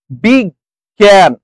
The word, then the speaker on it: বিজ্ঞান: দিন বন্ধু এরপরে আসেন বিগ জ্ঞান বিগ জ্ঞান এই গয় এটা কি হয়ে যায় এটা হচ্ছে এই গ তারপর আরেকটা গর জ ফরে এবং উপরে একটা কি হয়ে যায় উপরে একটা চন্দ্রবিন্দু হয় কারণ এখানে একটা নাসিক্য বর্ণ ছিল ইয় ছিল যেটাকে আমরা উঠিয়ে দিচ্ছি সেজন্য একটা এখানে ছন্দবিন্দু তাহলে বিজ্ঞান ঐশ্বর্য এখানে কি